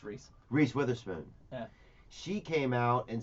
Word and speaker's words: Reese Witherspoon: believe it's pronounced Reese. Reese Witherspoon.